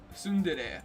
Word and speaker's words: tsundere: Google how to pronounce. Here you go. Oh, okay. Here it goes. Tsundere. Tsundere.